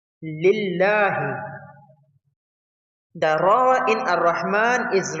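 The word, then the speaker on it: لله: The Lam in Lillah is read lightly because it is preceded by a kasra, a small I sound. Lillahi.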